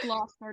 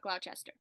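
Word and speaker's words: Gloucester: not Worchester Massachusetts and it's gler not glester so and I want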